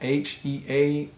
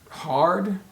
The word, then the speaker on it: heard: long beard how about h-e-a-r-d is it hard or heared nope it's pronounced heard heard like h-e-r-d heard like a herd of cows a herd of cattle so that's the examples